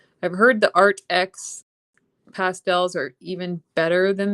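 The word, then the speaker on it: AATX: And I've heard that the um art, it's spelled like art with two A's. A A T X. I've heard the Art X pastels are even better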